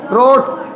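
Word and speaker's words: wrote: Second form रोट। बच्चों इसमें W silent रहता है।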